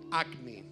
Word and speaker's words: Agni: El pastor fue bien enfático en decirnos que se decía Agni. Agni significa fuego. Así que si escucha al obispo corriendo y gritando Agni, lo que está diciendo es fuego.